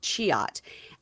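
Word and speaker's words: Cihat: His friend's name is Cihuat, c h i h a t, but pronounced Cihuat.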